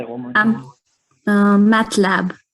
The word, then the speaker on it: MATLAB: And you said that is pronounced how? Matcha? Yes. Ma'am, so say it one more time. MATLAB, MATLAB.